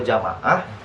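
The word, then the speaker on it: جماعة: Nah, beda cara penulisannya, bedanya kalau jamaah alifnya itu setelah mim. Kalau ini kan alifnya setelah ja ya. Nah, kalau alifnya setelah mim itu nanti dibacanya jamaah. Jamaah. Jamaah. Panjangnya lima ya. Panjangnya di ma.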